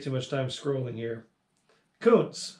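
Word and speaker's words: Kountze: much time scrolling here koontz that's how you pronounce that town thank you coons texas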